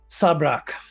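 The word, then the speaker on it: Sabrak: I can't not ask an NPC their name sabrock sub Rock s-a-b-r-a-k Sab Rock yep I said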